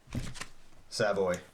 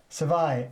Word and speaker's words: Savai: Savoy. Savai. S-A-V-A-I. Oh. I will untap. I will draw. I'm probably pronouncing it wrong.